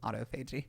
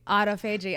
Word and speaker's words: autophagy: when you do keto well isn't that like autophagy isn't that what they call it yeah and actually it I say this a lot it's the correct pronunciation is autoag autoag okay I didn't know everybody says autophagy and